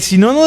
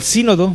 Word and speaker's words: sínodo: Fíjense, el sinono de Dort, bueno, el sínodo, porque el acento en la sínodo de Dortó más de 180 sesiones a lo largo de 7 meses.